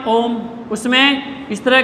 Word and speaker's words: ओम: स्वर का चिन्ह है अब ओम जो है इसमें ओ जो है इसके पीछे लगा हुआ त्र मात्रिक स्वर इसके पीछे लगा हुआ त्र मात्रिक यानी तीन मात्राओं का समय लगना चाहिए किसके उच्चारण में ओ